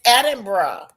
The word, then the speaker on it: Edinburgh: Edin- It's Edinburgh.